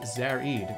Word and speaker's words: Zared: was the latest record from zared pronounced zarid oops award-winning composer and